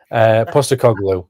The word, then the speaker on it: Postecoglou: of a scuffle in the tunnel as Ange Postecoglou was sacked after 8 games. Was it in charge? And no wins. I know, Steve, I probably said it wrong, but it's hard. I'm dyslexic. Leave me alone. Postecoglou.